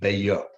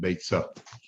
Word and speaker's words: Beitza: Even though it's written Beitza, you're supposed to pronounce it Beya. As there's brought down in Mogen Avraham and Shulchan Aruch Siman Kuftan Vav, Beitza is a word that has allusions to other meanings that are not so nice, not so eloquent. So therefore you're supposed to pronounce it Beya, even though there's a tzaddik there.